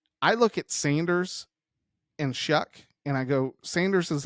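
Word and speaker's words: Shough: Shuck. Like shuck shucking an oyster.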